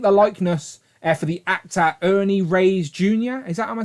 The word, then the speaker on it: Ernie Reyes Jr.: I think the likeness for the actor Ernie Reyes Jr. Is that, am I saying it correctly? Ernie Reyes Jr.